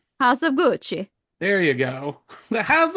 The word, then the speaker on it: Gucci: And that was You didn't pronounce that right. House of Gucci.